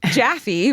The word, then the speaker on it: Jaffy: Jaffy rhymes with Taffy was a scrappy little